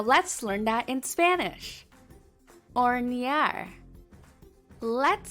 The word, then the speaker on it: hornear: Hornear. Let's sound it out. Here's a tip. The H is silent, so we'll skip it. Hornear. Hornear.